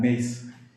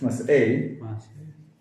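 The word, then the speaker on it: Masei: Good, mas'eh, I would add an I at the end of the word mas'eh, M-A-S-E-I, just so you know that it's not mace, it's mas'eh.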